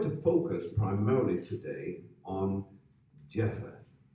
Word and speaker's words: Japheth: and Japheth. And Japheth. Now, we're going to focus primarily today on Japheth, or as it would be pronounced back in those days as Japhet.